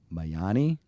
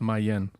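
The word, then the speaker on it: Mayenne: I don't know how to say this. Mayani? In 2009. You guys, No disrespect. no disrespect. I took German in high school. I didn't take Allow French. me, Joe. Okay. It's just Mayen.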